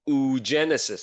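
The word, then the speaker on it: oogenesis: in the past hour for female it's called ug Genesis that's how you pronounce this ug Genesis uh and that is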